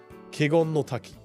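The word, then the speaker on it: 華厳の滝: It's your pronunciation issue. Or Chugushi? Chugushi? No. Kegon no Taki.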